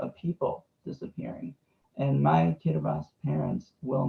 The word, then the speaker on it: Kiribati: kiribati before i said everyone would think it was kiribati while the t and the i make the s sound so it's kiribati get a bus if